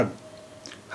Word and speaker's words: حق: دیکھیے اماراتی ڈائلیکٹ میں یا اماراتی لہجے میں کہیں کہیں پر قاف کو تلفظ گا کی طرح ہوتا ہے. تو یہاں حق نہیں ہے اس کا تلفظ.